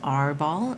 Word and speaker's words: RRR: And there is a designer's note that says, while RRR ball is often pronounced R ball, it shouldn't be confused with the pirate game of that same name.